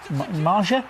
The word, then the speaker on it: Maja: Josh maer isn't it Maja is that how we pronouncing it Ma it's not major is it no vital win